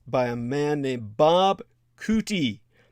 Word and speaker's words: Coutie: That's by a man named Bob Cootie. His surname is spelled Coutie, Bob Cootie, and as well review the award-winning independent film of a man named Con de la Cruz.